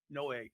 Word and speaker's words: Noe: Noe. Because we didn't have the little accent. I looked. Just how it's spelled. No A. There's no A in there.